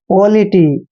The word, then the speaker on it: polity: जैसे देखिए POLITY, देखिए P का उच्चारण हम पे करते हैं, और O का उच्चारण O करते हैं, और LITY को लिटी पढ़ना है, ऐसे पॉलिटी।